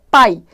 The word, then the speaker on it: pai: Observe que o A tá mais forte, ó.